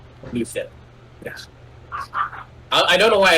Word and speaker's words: Luthen: You say his name is Luthen. Luthen. Such a Star Wars names. Like Cyril, Tarn. Did any character stick out to you, Hazel? It's just like Luther, but with an N. Luthen.